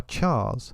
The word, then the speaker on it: chars: Our chars, hard ch, short for characters, Europeans pronounce it chars, so now we all do, are an extension of ourselves.